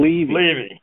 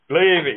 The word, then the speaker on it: Levy: By the way, it becomes more credible when you pronounce the guest last name properly. So it's Levy. Levy, yes, exactly.